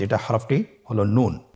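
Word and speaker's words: نون: একটি নুক্তা যদি থাকে তাহলে আমরা বুঝতে পারবো যে এটা হরফটি হল নুন। নুন হরফটি উচ্চারণের ক্ষেত্রে অবশ্যই পাতলা করে উচ্চারণ করতে হবে এবং তিন আলিফ টেনে পড়তে হবে।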